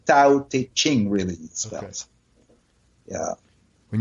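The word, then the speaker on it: Tao Te Ching: is what the call the DAO day King it's spelled ta o te and CH ing so tau teaching really nice fellows yeah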